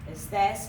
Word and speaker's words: estés: Estés also continues to have an accent because we're putting the stress on that second syllable.